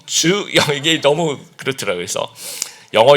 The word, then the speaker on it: 주영: 주영 그러면 이제 투영 너무 어려투영 뭐 이런 식으로 이렇게 물어보는 거예요. 그래서 아 not투영 주영 이게 너무 그렇더라고요.